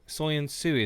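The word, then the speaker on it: Söyüncü: Or apparently it's Soyuncu. Soyuncu is the way to pronounce his name.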